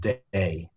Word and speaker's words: Dei: well distributed is um called day Dei it's spelled um those wines are